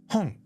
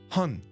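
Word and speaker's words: 本: Hong. Hong. Now notice it's in the back of my mouth. Hong. Hong. Not hun. Japanese only has Hun.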